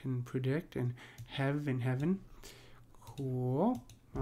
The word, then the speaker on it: heaven: one we saw that they they pronounce heaven as a single syllable you will see that in oal poetry uh so keep that in mind but in this particular case he's pronouncing it as two syllable uh so they do